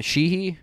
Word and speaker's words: Sheehy: Sheehy?